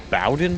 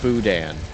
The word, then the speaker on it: boudin: It says, do y'all like Bowden balls? Pronounced Boudin.